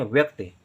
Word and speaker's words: व्यक्ति: आत्मविश्वासी आत्मविश्वासी व्यक्ति व्यक्ति ध्यान दें व्यक्ति व का उच्चारण बहुत कम समय के लिए तुरंत ंत य का उच्चारण हो जाता है व क आधा का व्यक क्योंकि का बहुत कम देर के लिए बोला जा रहा है तो आधा क और ता ता में